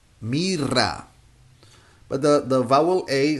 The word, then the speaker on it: mira: syllables it sounds so here is not in the beginning of the word so we say mira mira but here it sounds here it would sound ra only if we have Double R Mira but the the vowel